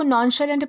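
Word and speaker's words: nonchalant: इसे जो है वो नॉनशैलेंट प्रोनाउंस किया जाता है, जिसका मतलब होता है लापरवाह या फिर निश्चिंत।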